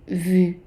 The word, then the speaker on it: vu: then we add in vu. vu. And the U is pronounced like an I, putting your lips together.